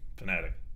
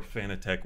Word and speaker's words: Fanatec: I like that about fanatic or fan of tech whatever you want to be both of both pronunciations are correct Thomas has said it's